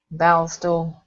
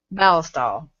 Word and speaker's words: Ballistol: Ballisto.